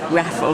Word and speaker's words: Raffle: Raffle. How do you spell that? Same as raffle tickets, R-A-F-F for Freddie.